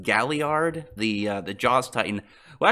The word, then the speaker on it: Galliard: right then jack has a believes name is pronounced Galliard the the jaws tighten well actually it's between